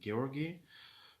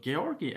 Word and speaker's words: Georgi: uh other people so georgie actually in english it's george yeah it's george but in armenia in georgia this name is uh pronounced as georgi as georgi in georgian yes so uh he